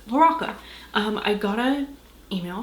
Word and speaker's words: LaRocca: saying his name wrong i've been saying larocca like zach de la roca from uh rage against fishing but it's loraca um i got a